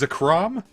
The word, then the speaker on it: Zekrom: Now you might be thinking, comic, since Zekrom is based on the word Kuro, shouldn't it be pronounced Zekrom? And I'm like, yeah, probably.